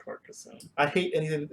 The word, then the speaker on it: Carcassonne: I want to say it's from Carcassonne, Carcassonne? Carcassonne, It's Carcassonne. pronounced Carcassonne. I hate anything. It sounds like carcass.